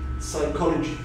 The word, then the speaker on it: psychology: Psychology. Psychology, so the silent letter of Pira, P.